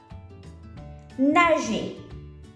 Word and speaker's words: nager: Nager. Nager. Répétez après moi. Nager. The E and the R at the end makes the sound A.